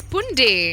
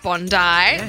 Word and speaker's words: Bondi: also learned another fact that Bondi is pronounced as Bundi Bundy yeah yeah so let's not say Bondi let's start saying Bundi and Bundy for us